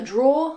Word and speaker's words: drawer: table this is a draw like i said um be careful because in british english we don't pronounce the er at the end we just say draw and here we have